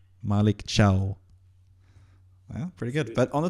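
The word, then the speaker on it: Malick Thiaw: hear from the the horse's mouth how he pronounced name the name Maliko Malik Malik Chiao.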